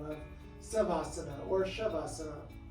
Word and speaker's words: Shavasana: name of subhasana or shavasana lots of Sanskrit words start with an S or have an s in there it's actually pronounced sh unknown to me why